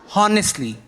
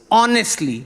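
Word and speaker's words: honestly: रहा है वो कहता है नहीं इट्स नॉट होनेस्टली इट्स ऑनेस्टली द एच is silent तो मैंने उसको बोल दिया तू अपनी बकवास बनकर चूइए उसने कहा चूइए।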